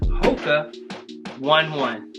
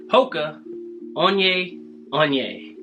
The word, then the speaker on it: Hoka One One: to review for you the MOCA one one that's not how you say it it's actually coca on yay on yay so it looks like